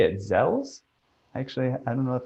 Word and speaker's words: Zoells: well that's tricky it's it's a german name and originally it's o within umlaut so in german it's but here we say zolls i'm going to say